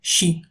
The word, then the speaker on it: щи: lettre généralement transcrite CHTCH, comme dans щи, la soupe aux choux appelée ch'ti en français. Mais de nos jours, ce son ne se prononce plus ch'te. La différence avec cha, c'est qu'il est plus long et palatalisé.